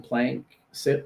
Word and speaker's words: PlankSip: Yeah, so there's a few different derivatives of PlankSip, but the one that helps people remember the name PlankSip as in a 2-syllable name.